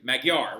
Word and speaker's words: Magyar: For example, the Magyars settled the common-day country now known as Hungary, because they literally call their country Magyar, right? So, like, that is how you say it in Hungarian.